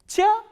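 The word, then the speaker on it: чай: next one you already know how will you pronounce this word chair ah e chai what is chai chai only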